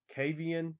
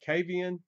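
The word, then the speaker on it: Kvaen: the swedish band i'm going to butcher this kavian it's spelled k-v-a-e-n the swedish language is absolutely terrible for a u.s english-speaking person to try to pronounce that they are so different but i i call it cavian i'm probably butchering that and the name of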